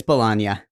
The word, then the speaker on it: Joey Bologna: That's Bologna, I guess. We researched it. It's Bologna. Yeah, but it's spelled like bologna.